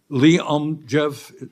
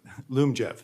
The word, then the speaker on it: Lyumjev: So, that means uh I may be mispronouncing it. Lyumjev, how do you pronounce that? Lyumjev. So, Lyumjev, wasn't close.